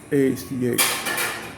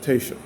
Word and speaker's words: Taoiseach: If you look at it, it doesn't look anything like that. Taoiseach. Apparently, it's pronounced Taoiseach. At least that's one, if you will, particular pronunciation.